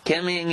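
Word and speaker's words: Kim Ng: the yankees organization miss kim how do i pronounce her name is kim ing by the chance yes kim ming is the new general manager of the miami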